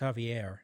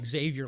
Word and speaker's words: Xavier: way you reminded me it's pronounced javier not xavier like charles xavier for example from x-men i think latinos need